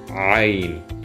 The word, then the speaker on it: عين: But when we pronounce the عين, it's عين. We tighten the throat to make this kind of knot with the air. عين.